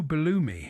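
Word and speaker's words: Belloumi: He's the only footballer whose name rhymes with a Greek cheese.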